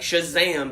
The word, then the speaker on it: Shazam: comic-con starring Zachary Levi I have to say it like Shazam because I got it Shh you gotta get that SH sound and it's got that exclamation point at the end words were never he